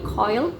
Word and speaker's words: curl: Nah, lalu di dialek ini kata curl itu dibacanya seperti coil, dan kata third itu ternyata dibacanya seperti toy.